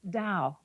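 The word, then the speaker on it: Tao: essentially Chinese and it's spelled ta AO and pronounced Dao this little exercise claims a history of over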